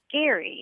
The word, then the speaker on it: Gerry: I wanted to ask you guys about gerrymandering because I recently learned that the person who it's named after pronounced his name Gary, and I wonder why we never said gerrymandering.